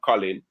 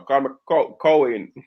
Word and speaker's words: Colin: being black where he even change up the pronunciation of his name don't don't call me colleen you know cohen is he is he